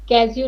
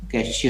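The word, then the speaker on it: cashew: उसके उच्चारण को तुम जरा गूगल में देखना, तुम गलत उच्चारण कर रही हो, देख लेना। कैश्यू नट कहते हैं उसको।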